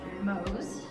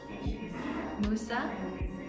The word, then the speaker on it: Mose: So, funny enough, people can pronounce this any which way. It can either be pronounced Mose, Musa, or Mose.